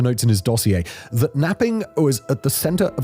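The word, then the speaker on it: knapping: This was known as napping, spelled with a K, and it involved crushing stones in the prison yard.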